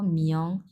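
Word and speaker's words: 名: হয় তখন আমরা বলব মিয়ং খুবই সূক্ষ ভাবে উচ্চারণ করব মিয়ং এভাবে মিয়ং যেহেতু এটা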